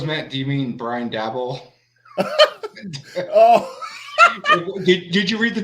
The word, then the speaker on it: Daboll: How you pronounce it? Daboll.